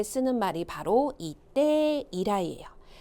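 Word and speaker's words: 以来: 미나상 발음이요. 때 이라이.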